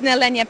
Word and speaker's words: Nehelenia: Could you pronounce the company name for me? Yeah, it's Nehelenia Patterns.